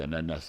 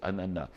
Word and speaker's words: ananas: un ananas, on dit ananas ici. Et mais j'ai j'ai appris dernièrement que les Haïtiens ont raison, c'est ananas. Le S de final ne se prononce pas.